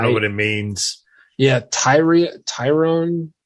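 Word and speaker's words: Tyrion: Yeah, Tyrone. I think that's pronounced Tyrone. It's spelled funky.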